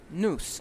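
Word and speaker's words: nous: you go it's pronounced noose noose it kind of sounds like noose you know the one you hang yourself with well it's different spelling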